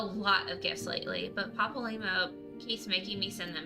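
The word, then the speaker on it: Papalymo: Papal limo.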